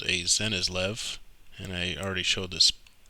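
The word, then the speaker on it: Cenislev: material i am this wandzer is called a zenizlev and i already showed this the spelling c-e-n-i-s-l-e-v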